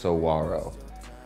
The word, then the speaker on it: Saguaro: called the Saguaro which I've learned now is pronounced Saguaro yeah so that was the whole point of